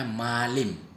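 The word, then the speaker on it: malém: Ini bukan malam ya teman-teman. Ini bacanya malim.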